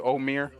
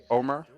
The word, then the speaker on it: Omar: Can I call you Omir? Omar. Omar.